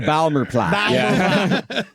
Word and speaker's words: Baltimore: The Balmore plot. The the Balmer plot.